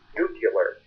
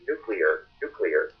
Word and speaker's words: nuclear: The more you listen to the news, the more you hear people saying nuclear. And that's an impronounced term. It's nuclear. Pretty easily when you look at the way the word is spelled, that's how it's pronounced.